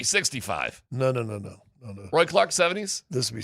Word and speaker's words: Roi: Is there anybody in hockey If you play basketball whose last name is spelled ROI and it's pronounced Roy?